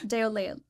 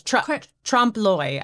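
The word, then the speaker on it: trompe-l'œil: Déolé. Yeah. Yeah. Close. Trompe-l'oeil, I think.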